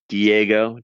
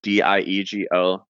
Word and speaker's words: Diego: You can find me first and last name Diego, Diego, like go Diego go.